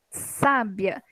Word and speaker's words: sábia: à classificação dessa palavra sábia é uma palavra que eu tenho aí ó sábia é uma palavra que eu tenho duas sílabas a penúltima é tônica porque que ela é